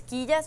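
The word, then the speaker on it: quillas: game sort of because if you spell it with a q so q-u-i-l-l-a-s it's kijas which is finn but in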